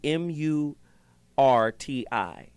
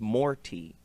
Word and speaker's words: Murti: followed him krishna murty mu RTI and and and the hindu say it correctly is not murti it's more tea right more tea didn't